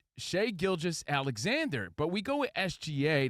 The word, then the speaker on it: Shai Gilgeous-Alexander: It's Shai Gilgeous-Alexander.